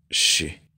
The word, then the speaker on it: she: que significa ella y se pronuncia She como cuando le pedimos a alguien que guarde silencio Sí y el tercer